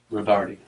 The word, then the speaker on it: Rodarte: information it's Le and tell me how you pronounced your last name rard RAR okay and that's r o d a